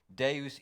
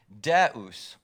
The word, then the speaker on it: Deus: As Doug said, Ubi, where, Caritas, charity, Deus ibi est, there God is.